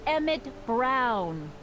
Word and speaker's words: Emmett Brown: bill to a t that's emmett brown rhymes with clown which i'm beginning to